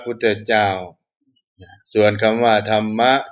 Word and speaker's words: ธรรมะ: ของ พระ พุทธเจ้า ส่วน ธรรมะ นะ ที่ มี ร เรือ 2 ตัว มา จาก คำ สันสกฤต นะ เขียน เป็น ภาษา สันสกฤต ว่า ธันมะ นะ ธง ร เรือ 2 ตัว แล้ว ก็ ม้า สระ อะ อ่าน ว่า ธรรมะ เป็น คำ ของ พราหมณ์